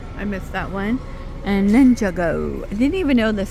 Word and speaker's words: Ninjago: I always called it Ninjargo. Just leave the R, right? It's Ninjago. I was saying it wrong all these years. Ninjago. Oh, Ninjago. What? What happened? It's just spelled Ninja.